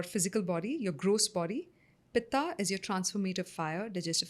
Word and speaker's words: pitta: We say kaf, pit, vat. But it's actually kapha, pitta, vata, dosha.